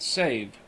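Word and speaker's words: Sèvres: The name of the town is pronounced save.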